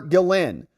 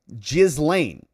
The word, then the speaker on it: Ghislaine: In English-speaking context, the G can be pronounced as a soft G or J sound, and the S is often pronounced like a Z. So in French, it might be closer to Ghislaine or Ghislaine.